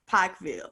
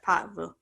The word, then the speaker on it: Pikeville: Did I say it right? Pikeville. You're slowing it down too much, Tiffany. I know. I gotta speed it up. I used to say it. I just say it's Pikeville. I know I'm saying it right. wrong. That's closer. It's closer. We had the privilege of